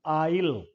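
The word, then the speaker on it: aisle: This word is आइल, स नहीं बोला जाता इसमें, आइल, आ ई ल, आइल।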